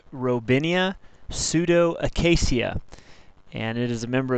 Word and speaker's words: Robinia pseudoacacia: black locust the species name is pronounced robinia pseudo Acasia and it is a member of the fabas